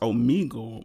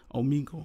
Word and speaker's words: Omegle: So it's pronounced Omegle. I've been pronouncing it wrong this whole time. Omegle.